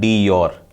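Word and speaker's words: de jure: ये डी facto हो जाता है, इसको बोलते हैं डी फैक्टो, और इसको बोलते हैं डी योर। डी योर head है ये, डी योर, जे साइलेंट है, JURE, तो डी योर हेड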